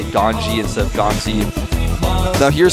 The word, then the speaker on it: GanZi: my twitter were saying why do you say ganji instead of ganzi well gone z is how it's spelled in english but in korean there's actually no z sound so the closest thing they have is uh there's a like that g type of character so that's why you